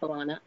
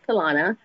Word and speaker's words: Talana: I know a lot of people see it written and pronounce it Talana, but it is Talana.